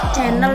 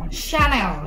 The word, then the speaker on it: Chanel: Channel ya Madam ya? Bukan channel itu, Chanel. Oh Chanel. Bacanya gitu, bukan channel.